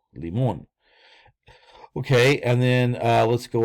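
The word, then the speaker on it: лимон: Okay, and then L E M O N, limon, limon. Okay, notice how the accent is on the O, therefore we say O, limon.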